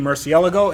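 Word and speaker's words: Murciélago: see much but this is my 2003 Lamborghini Murcielago and yes that is the correct way to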